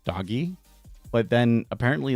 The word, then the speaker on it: DOGE: seems to me that the media and everybody else has really settled on Doge, pronouncing it Doge.